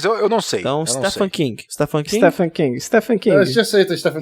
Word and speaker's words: Stephen King: acho Eu também acho me corrija aí a pronúncia Stephan King Stephan King stepan King Stephan King Stephan King assistiu uma uma Premiere do do do fil Na verdade eu vi uma vez falando que é Stephen King quase um Stephen King